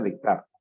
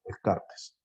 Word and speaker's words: Descartes: El máximo representante del racionalismo es Descartes, o Descartes, se pronuncia Descartes. Nosotros en español, Descartes.